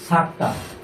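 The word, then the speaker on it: سكتة: আচ্ছা, এবার আমরা একটু শুনি সাক্তা। আমাদের পরের একটা বিষয়বস্তু হলো সাক্তা। সাক্তার চিহ্ন এইটা যেভাবে লেখা আছে, সিন কাফ তা হা। তা এটা অ্যাকচুয়ালি হা, মানে উচ্চারণ যখন হয় তখন হা হয়ে যায়।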